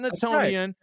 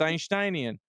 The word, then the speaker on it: Einsteinian: it is not how you say it's not naian it's einsteinian right you go to so you go to